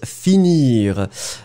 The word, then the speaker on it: finir: Finir, donc F-I-N-I-R. Well, this one is not really tricky to pronounce, and for the conjugation, one more time, it's a regular verb from the second group. So it means that for the conjugation, it will be finir, so je finis, I-S. Tu finis IS, il, elle finit IT. Remember, we pronounce them the same way, but of course we write them differently.